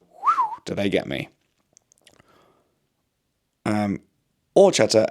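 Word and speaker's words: horchata: Um Orchata, H is silent, not too bad for you, but if it has too much sugar then not good.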